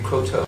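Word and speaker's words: Croteau: name is Cotto how do you spell you last name c r o t e Au U and we're using the French pronunciation my familyes divided I I prefer Cotto oh Cotto I see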